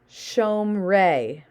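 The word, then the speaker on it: שׁוֹמְרֵי: For our mental health and sanity, we're going to assume this is silent. So, shomrei. So we're assuming this is silent as if it's not even there.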